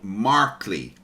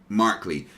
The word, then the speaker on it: Markley: I always get your name, say it wrong. Markley, right? Yes, that's right. Markley, yes. Hi. I've got a friend with a surname of Markey, and I just always want to say that instead.